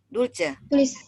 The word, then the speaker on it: Dulce: Panggilnya Dulce. Tulisannya pakai C, bacanya pakai S, Ci.